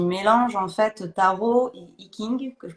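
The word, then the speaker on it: I Ching: Alors, plus tard, j'ai découvert les oracles, que le I-Ching que le I-Ching, qui est l'oracle. Alors, ça se prononce pas comme ça, de façon orthodoxe, hein, c'est I-Ching.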